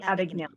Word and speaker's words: Abagnale: of the Frank Advocate can you help me pronounce that word Frank a big nail Frank Abagnale thank you if you if you've seen the